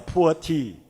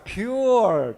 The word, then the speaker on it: Puer: it may become a poor tea so I suggested to the company don't say poor tea it will sound like a poor tea so say it like a pure tea so you sound